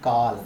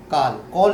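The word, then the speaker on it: Akal: सत श्री काल काल काल सरसरिया सत्सरी सरसरी काल कॉल नहीं, कॉल नहीं बोलती मैं, काल बोलती हूँ।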